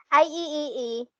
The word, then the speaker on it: IEEE: and parts and piece are standards across manufacturers ieee pronounced ieee it stands for the institute of electrical